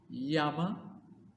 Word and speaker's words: llama: means by cafes oh L is for llama or should I say Yama because the Double L in Spanish and also in French is pronounced as why this animal is native